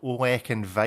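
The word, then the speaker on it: Ollech & Wajs: This is a brand called Olek and Weiss. Oh yes. Oh, which is spelled OLLECH and WAJS.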